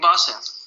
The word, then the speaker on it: Basse: how do you pronounce, what's the right pronunciation, Henning Bass or Henning Bass? Henning Basse. Basse, okay.